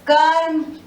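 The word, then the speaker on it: कर्म: This R is pronounced before the P. So this is Karm, Sarp, Harsh and Kharch.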